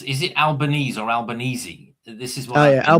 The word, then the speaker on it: Albanese: your your prime minister, Albanese, is it um how do you pronounce is it Albanese or Albani? This is what Alban Albanesei. It's Italian.